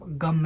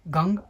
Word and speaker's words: गं: है, तब उसको आपको सिर्फ गम ही बोलना है, गंग नहीं बोलना है। गंग अगर गलती से बोलते हो तो उसका कोई दुष्परिणाम नहीं मिलेगा, लेकिन इसका सही उच्चारण सिर्फ और सिर्फ गम आएगा।